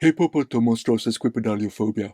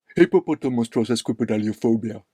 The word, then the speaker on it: Hippopotomonstrosesquippedaliophobia: So, how do you pronounce that again? Hippopotamonstrosis. Hippo. Hippopoto. Okay. Monstrosis. Right. Quipedalio. Uh-huh. Phobia. Hippopotamonstrosis.